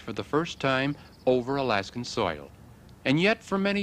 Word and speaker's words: Alaska: people on the peninsula have a word Ali esca meaning the great land we will pronounce it Alaska the treaty was signed